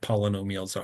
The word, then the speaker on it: polynomial: Some people don't pronounce like poly, they say pola. So like polynomials is a common way to just let that roll off the tongue.